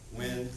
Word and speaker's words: Nguyen: relate to my friend joseph nguyen when but it's spelled this way joseph is five feet